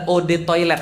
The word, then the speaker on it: eau de toilette: air mau sombong banget eau de toilette adalah Ode toilet bacanya e-awb atau odd kuatnya air toilet ya